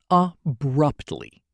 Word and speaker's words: abruptly: The stress is on abrupt. Abruptly.